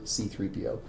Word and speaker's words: C-3PO: of creating the faux dark droids coin for C-3PO and I guess before he'd even seen the movie it gives you a pronunciation key there is pronounced c 3 p